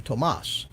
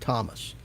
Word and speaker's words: Tomas: It took me quite a while to finally learn from him that he pronounces his name Tomas and not Thomas.